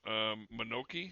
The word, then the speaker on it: Mononoke: Princess Mononoke, is that how you pronounce it?